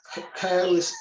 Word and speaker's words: chaos: Chaos, C-H-A-O-S, chaos.